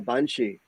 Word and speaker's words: banshee: there and see if I can encounter a banshee.